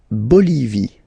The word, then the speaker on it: Bolivie: La Bolivie. Okay, final not pronounced.